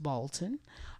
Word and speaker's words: Balton: My name is with a Y, Balton, which is pronounced Bolton.